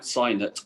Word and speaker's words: Signet: And I just get the impression with Signet Ace that, well, I don't think you're even supposed to pronounce it Signet. I've been spoken to Kevin about it. Sign it, isn't it? Sign it, Ace.